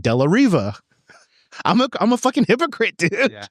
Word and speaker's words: De La Riva: I'm a hypocrite because I say De La Hiva, but nah, bro, it's an R. If I'm using like, the English that I learned in America, I should pronounce it De La Riva.